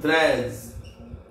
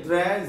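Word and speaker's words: treize: Number 13, T R E I Z E, Trez. T R E I, Trez, Z is off, Trez, Trez, T R E I Z E, Trez.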